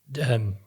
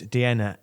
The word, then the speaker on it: Deanna: They played a video from the MP from Deanna Davidson rhymes with Vienna.